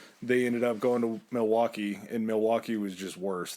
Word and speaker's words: Milwaukee: It's pronounced Milwaukee, and it's Algonquin and it's the good land or the great land.